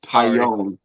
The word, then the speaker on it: Taillon: Talon is how it's spelled. It's pronounced Tyone.